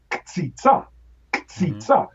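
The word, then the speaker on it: קציצה: But when we talk about meatball, we say ktsitsa. We are actually violating the syllable structure of Hebrew, because in Hebrew you could never put two consonants at the beginning.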